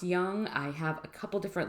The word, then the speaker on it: Jung: actually called him carl jung before because the name you're searching on google is going to be um j-u-n-g it's actually pronounced young i have a couple